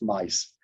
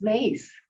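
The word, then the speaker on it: Myss: I've been pronouncing your name Carolyn Miss, M-Y-S-S. And Don tells me, who was a friend of hers, says, no, it's Mice, Carolyn Mice. Oh, I thought it was Mace.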